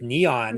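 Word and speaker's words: N3on: His pronounced nickname pronounced Neon.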